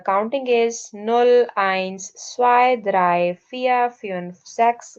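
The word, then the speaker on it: eins: The first word इज़ please focus on the pronunciation. This इज null. Zero इज null. One इज आइंस वन इज आइंस टू इज़ Swai because Z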